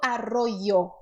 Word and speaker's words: arroyo: Então, a letra Y no espanhol, ela possui mais de uma opção para ser pronunciada, tá? São 4 opções. A primeira opção, eu vou escrever aqui embaixo, tá? A primeira opção é o som do I. I. Arroyo. Arroyo. É uma opção aceitável e é correta.